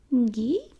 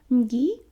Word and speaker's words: Ngi: And then there is my other little Ngi. No, Ngi at the back of the throat. Ngi.